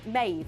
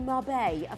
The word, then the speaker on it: Maeve: Yes, turns out it's actually Marbet. For those of you that are more cultured than us, you'll know that the V's are pronounced as B's.